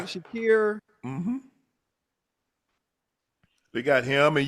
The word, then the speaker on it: Shakir: Shakir.